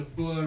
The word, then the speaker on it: Boer: Transvaal, were under the Boer Republic, known as the Boer Republics. Boer or Boer, as English people pronounce it.